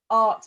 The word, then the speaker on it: AHRT: years ago he joined AHRT Media. Now, have I said that right, Levi? Yeah, exactly right. It's just art with an H.